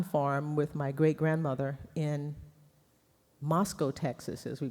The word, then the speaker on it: Moscow: had a cotton farm with my great-grandmother in Moscow Texas as we pronounced it it's it's spelled Moscow but we pronounced it Moscow Texas deep east Texas and he used to